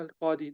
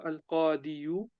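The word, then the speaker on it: القاضي: We say jaa al-qadi, the judge came. Um, so we don't pronounce. We don't say jaa al-qadiyu.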